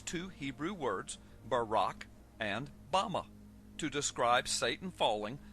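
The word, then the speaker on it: במה: in the Strong's Hebrew Dictionary, and it is pronounced Bama.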